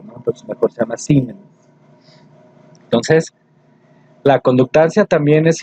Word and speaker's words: Siemens: Se escribe Siemens, pero se pronuncia Siemens, ¿sí?